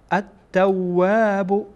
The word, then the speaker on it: التواب: این نونی که در اینجا میبینید مستقیما با تا وصل میشه و تا از حروف شمسیه هست، یعنی لام در اینجا کاربرد نداره، تلفظ نمیشه.